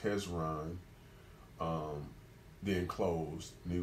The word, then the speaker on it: Hezron: wrong was it Israelite um well actually is pronounced hezron um then closed and it was the sun